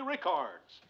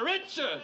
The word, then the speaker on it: Richards: luck to our own Mary Rickards. Richards? Her name is Richards.